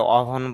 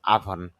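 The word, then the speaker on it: oven: আভন ছোলা, যদি এটা অভন বলে থাকি বা ওভান বলে থাকি, না এরকম না, উচ্চারণ হবে আভন বা আভান। ভান এটা বিশেষত আকার দিয়ে আভান ছোলা।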